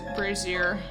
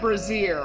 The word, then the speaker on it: brazier: Light a charcoal brazier. I can never pronounce that correctly. I know it's not brazier. I know that for sure. It's brazier. Brazier.